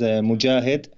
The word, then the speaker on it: Mojahed: and for your audience you can pronounce my name as Mujahid mo d a HED enjoy it but you